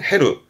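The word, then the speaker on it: 減る: 발음은 헤루.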